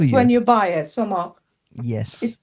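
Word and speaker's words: sumac: International, yeah, because I can find somog in my Asda now.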